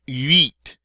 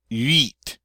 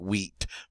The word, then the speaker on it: huit: It's hard to say that because you're saying huit, huit. And until you really learn to make that U sound, it's going to come out sounding like wheat, 28, which is okay.